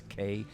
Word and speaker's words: Knapik: That's Knapik. The K is silent.